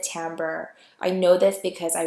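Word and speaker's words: timbre: pitch duration volume and tamber I know that looks like it's it uh it it should be pronounced Timber but actually you pronounce it tamber I know this because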